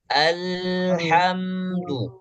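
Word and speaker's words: الحمد: Jadi bacanya alhamdu, al tahan satu harokat.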